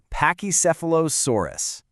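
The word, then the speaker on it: Pachycephalosaurus: Let's just break it into easy little pieces. Just say it right after me. Ready? Pak. Nice. Okay, now seph. Awesome. Next up, low sore. And to finish it off, us. Let's put it all together. Pachy sephilosaurus.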